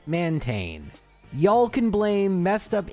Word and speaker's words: Mantine: If we pronounce both vowels separately, mantine or mantine, which is what they were going for, even though if you were to read this in English, it would be mantine.